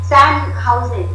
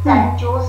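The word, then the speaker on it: San Jose: अमेरिकेला मी कॉन्फरन्सला गेली होती, तर अमेरिकेच्या त्या सॅन हाऊजे, सॅन जोस असं त्याचं स्पेलिंग आहे, पण सॅन हाऊजे असा उच्चार आहे.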